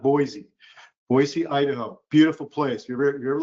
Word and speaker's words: Boise: Um we just got back from Boisee and it's pronounced Boisey, not Boise. Boisey, Idaho.